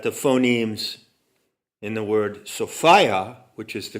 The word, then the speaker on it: Sophia: phonemes in the word sophia which is the correct pronunciation along gnostic lines resonate and rhyme with the word desire desire is an element